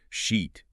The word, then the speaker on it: sheet: Sheet, like for your bed, has that long E sound, like sheet.